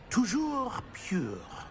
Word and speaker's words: Toujours pure: Toujours pure.